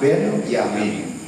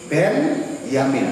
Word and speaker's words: Benyamin: Catatan, tulisan yang barusan saya baca, Ben-Yamin membacanya. Ben-Yamin. Jadi bukan Benyamin. Ben-Yamin. Jadi memanggalnya di situ. Kadang-kadang lektor juga keliru membaca ya. Tolong ini yang lektor juga belajar ya. Suku Benyamin kurang tepat. Sebab Benyamin pelawak.